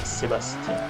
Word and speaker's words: Sébastien: My name is Sebastian, or Sébastien in French. And no, it doesn't rhyme with driver.